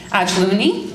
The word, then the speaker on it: Ajlouny: we're honored to have Joyce Ajlouny.